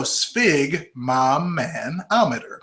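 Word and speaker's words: sphygmomanometer: pronounce the words so spig Mom had a man to meet her so spig M manometer okay so it's a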